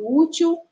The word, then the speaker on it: útil: E observando aí em relação à posição, nós observamos que a sílaba tônica é a penúltima sílaba. Nesse caso aí de útil, a sílaba formada pela letra U com acento agudo, ó, U.